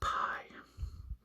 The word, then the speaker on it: pi: So pi is like a P in the English language, and without any aspiration, it is pronounced like the P in the word sap. So sap, p, p, p, pi.